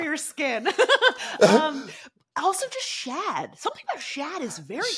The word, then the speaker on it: Shad: skin um also just Shad something about Shad is very cool Shad sounds like a the fr the French pronunciation of Chad Chad Chad and or